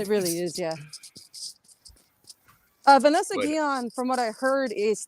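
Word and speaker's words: Guillén: Vanessa Guyan? Guyan, yeah. I guess I say it wrong? No. I'm half Hispanic, so I know how to pronounce the double L's. It kind of sounds like a Y.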